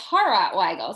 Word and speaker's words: Hawrot Weigel: a special guest it's Weigel did I pronounce that properly yeah it's horror why go so I've got two last name it's kind